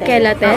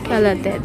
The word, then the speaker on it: chelated: Chelated ba to? Paano mo i-pronounce? Kelat. Kelated. Oo. Parang sabay mo siyang it. Kelated.